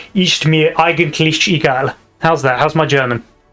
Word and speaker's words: Ist mir eigentlich egal: It's the Ist, because it's pronounced Ist. Okay, Ist. Soft. Yeah, Ist mir. Ist mir eigentlich egal. Yes, and it's eigentlich. Lich. Eigentlich egal.